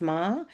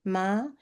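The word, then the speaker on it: 間: It is tricky one for me though since it's pronounced ma and my partner's name is also ma and for him it means horse but he is Chinese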